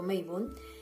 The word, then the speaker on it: Mabon: Mabon, también pronunciado Meibun, es la fiesta del equinoccio de otoño.